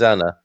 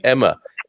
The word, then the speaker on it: Ana: that in uk as when i say my name is anna they think i'm saying emma then i have to say no it rhymes with banana and they probably say